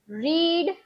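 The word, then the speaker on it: read: उसका V2 और V3 spelling भले ही उसका सेम हो, लेकिन उसे हम प्रोनाउंस करेंगे रेड। क्या प्रोनाउंस करेंगे? रेड। V2 और V3 दोनों में ही हम उसे प्रोनाउंस करेंगे रेड। रीड सिर्फ V1 में बोलना है, V2 और V3 में रेड हो जाएगा।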